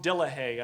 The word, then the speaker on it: Dillahay: Tom Dillahay. I think I'm pronouncing that right.